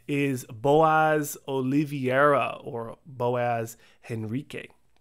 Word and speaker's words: Henrique: And next, no surprise and no stranger to this channel, is Boaz Oliveira, or Boaz HENRIQUE. Is it Enrique or Henrique? I think the H is silent, right?